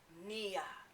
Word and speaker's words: Nia: In Swahili, it's pronounced nia.